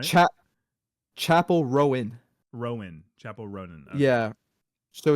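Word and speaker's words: Chappell Roan: the way I've been saying it she loves Chappelle ran but I discovered be like she's a dieh hard fan she she was like that is not how you pronounce it it's Chapel rone right CH Chapel Rowen Rowen Chapel Rowen yeah so it's Chapel Rowen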